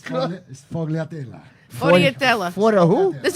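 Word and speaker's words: sfogliatella: Schvoyadel. Did I say it right? Close by. It's fogliatella.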